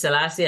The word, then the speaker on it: Selasi: How do I pronounce, by the way, the two names? Yes, Selasi and Akorfa.